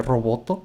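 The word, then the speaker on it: ロボット: roboto yama es que en japonés se dice roboto a robot entonces bueno es la pronunciación ya saben que le ponen letras extra cuando terminan en consonantes Entonces será el robot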